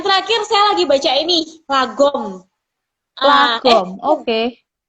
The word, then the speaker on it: lagom: Yang terakhir saya lagi baca ini, Lagom. Lagom. Oke. Bacanya Laugem gitu ya.